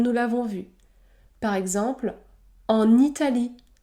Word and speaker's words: en Italie: l'avons vu par exemple en Italie en Italie le N se prononce n n en Italie ou encore en achetant